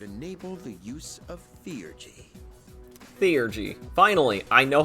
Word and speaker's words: Theurgy: Theurgy. Finally, I know how to pronounce that word.